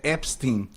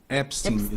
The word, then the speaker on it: Epstein: A pronúncia correta lá nos Estados Unidos é Epstein. Epstein.